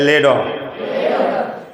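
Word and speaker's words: letter: দ্রুত ওরা কি বলে? I write a লেটার, I write a লেটার। এইভাবে কিন্তু ওরা আই রাইট এ লেটার এইভাবে ওরা উচ্চারণ করে না।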